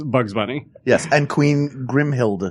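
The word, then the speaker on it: Grimhilde: as well as Bugs Bunny yes and queen grimhild grimhild thank you both say it like we knew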